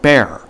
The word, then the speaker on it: Bexar: The X is silent, so it is pronounced bear.